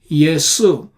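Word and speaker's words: Ἰησοῦ: or yesu or yesu the last H sound right is missing in Greek because they haven't got a word for it the letter for it yesu that's how it is pronounced in Greek there is no J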